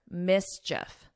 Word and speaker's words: mischief: So here, you don't hear this E sound because we do have a word that you may be familiar with, which is chief. Same spelling at this end, but this here is a long E sound, chief, but here you don't hear that long E, and it's just like if you were saying if, mischief.